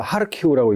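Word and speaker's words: Kharkiv: 여기 보시면 여기에 뭐 영어로 써 있죠 뭐 요게 이제 우크라이나 말라 하르 키라고 읽거든요 여기가 우크라이나 군수공업 지대에 여기까지 지금 러시아가 점령했다아요 근데 여기서 하루키 쪽 쫙 뺏겼어 우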